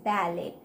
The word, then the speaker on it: ballet: Once there were three best friends who all loved to practice ballet. Here the spelling of ballet is B-A-L-L-E-T. T is silent.